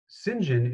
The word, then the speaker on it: St. John: to drop him in to the short story Sinjin is spelled Saint John yes and so when we